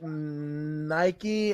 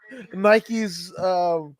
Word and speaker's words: Nike: Um, and it's like Nike Americans say it's strange, so I think it's like Nick. But I mean Nikki.